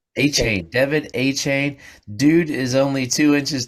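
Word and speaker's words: Achane: me how to say it right Devin McCain a chain a Kane 18 Devin a chain dude is only two inches three inches taller than me but he's a surprisingly 188.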